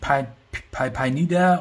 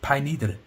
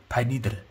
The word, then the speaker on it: Pineider: richtig ausgesprochen und ja die meisten sprechen ist falsch aus das heißt nicht pipeline nieder oder so so das heißt bei lidl bei lidl ja das ist der akzent am ende die wieder auch sei